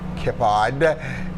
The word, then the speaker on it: Keppard: we you know that although his name is spelled k-e-p-p-e-r-d i believe kippad because this french is kippah so freddie we just